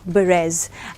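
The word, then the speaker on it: berets: बोलते हैं ऐसे BERRETS, बट इसका प्रोनाउंसिएशन है ब्लू बेरेज। एंड यहाँ पे इसका जो प्रोनाउंसिएशन है वो फ्रांस से लिया गया है, बेरेज।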